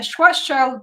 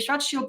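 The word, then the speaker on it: Schwarzschild: This is the difference between a Schwash black hole, a strat shield, sorry, let's pronounce properly, a strat shield black hole, which is one that is static,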